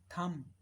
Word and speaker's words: thumb: ऐसे ही एक वर्ड होता है THUMB, थम, थम, इसमें बी साइलेंट है, थम।